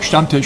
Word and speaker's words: Stammtisch: So my question about the Stammtisch is, or the Stammtisch. Stammtisch, that's right.